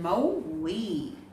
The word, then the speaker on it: Maui: the story movies kite you should know the pronunciation mao we so movies kite is all about a story